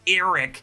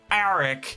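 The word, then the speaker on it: Arryk: And I'm telling you, in this moment, Sir Criston deliberately pronounced it more like Eric than Arik just to piss off Arik.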